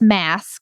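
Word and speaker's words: MaaS: It's mass, because it rhymes with SaaS.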